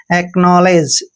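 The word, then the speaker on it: acknowledge: और यहां पर देखिए यहां पर डब्लू हमेशा साइलेंट रहेगा एल का उच्चारण हमने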